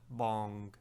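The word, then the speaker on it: boung: substance called b o well it's spelled b o u n g like bong like you know when a ball bounces bong like that it's pretty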